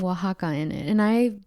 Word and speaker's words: Oaxaca: made some chilaquiles today with some queso the oaxaca yes okay now the reason i said it